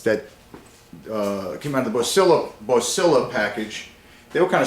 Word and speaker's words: Boslla: I did look up the correct pronunciation. Apparently it's Bossla, so I apologize if I got that wrong.